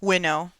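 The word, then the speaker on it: winnow: and he can what how do you pronounce the thing that they do windowed window it's window okay thank you yeah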